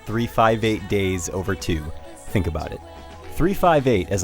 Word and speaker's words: 358/2 Days: and before we go on yes it's actually pronounced 358 days over two think about it 358 as I'll call it